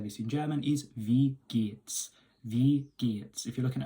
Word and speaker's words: wie geht's: But in German it's pronounced wie geht's.